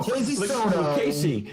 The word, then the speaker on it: Lucchese: It's just go Lucchese. Like when you see Lucchese, Frank's last name, there's a bunch of C's. There's an H in the middle of it.